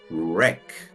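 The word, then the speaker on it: wreck: la vamos a partir la W es muda y queda una sola sílaba cerrada porque termina en consonante el sonido de la e va a ser cerrado más parecido al español y nos va a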